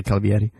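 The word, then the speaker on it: Calvierri: She spells it with 2 R's. Calvieri. I would still say Calvieri.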